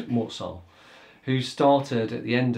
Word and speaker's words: Mort Sahl: Sometimes people pronounce it Saul, but Mort-Saul, who started at the end of 1953.